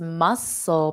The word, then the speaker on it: muscle: his muscle muscle muscle so in English we also have a seafood item that's very popular on menus and that Seafood item is muscles have you ever had muscles they are delicious okay so it's the exact same pronunciation if it were plural now muscles you never